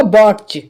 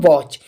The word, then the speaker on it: watch: लिख देता हूँ WATCH, तो अगर न्यू स्टूडेंट्स होगा तो वो इसके लिए पढ़ेगा बॉट्च, बॉट्च, क्योंकि टी का वो टा लगा देगा यहाँ पर। ठीक है, बॉट्च पड़ेगा। लेकिन मैं यहाँ पे बात करूँ, यहाँ पर टी साइलेंट होगा, इसके लिए हम पढ़ेंगे वॉच।